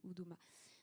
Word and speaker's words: Uduma: guillemets économique d'Oudouma, c'est ça s'écrit U-D-U-M-A, mais ça se prononce Oudouma.